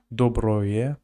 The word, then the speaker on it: доброе: Yeah, sometimes when in Russian you write O and instead of O, they pronounce it like A.